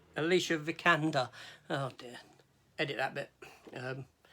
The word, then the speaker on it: Alicia Vikander: Next up, Alexandra Vanakatakov. Is that her name? Is that how you pronounce it? No, it's Alicia Vikander.